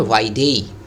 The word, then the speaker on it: vide: अब देखिए VIDE एक शब्द को लेते हैं, ओके, इसको हम लोग वाइड नहीं पढ़ेंगे, इसको हम लोग कहेंगे वाइडी डेई, ए इसका प्रोनाउंसिएशन होगा, है ना, वाइडेई।